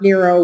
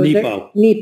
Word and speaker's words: Nepo: Mark Nero was fighting cancer when he wrote this, and it's beautiful. So Nepo. Mark Nepo. Did I say it wrong? Nemo. I said Nemo.